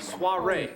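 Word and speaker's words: soirée: Look at SWAHRAY. Soiree.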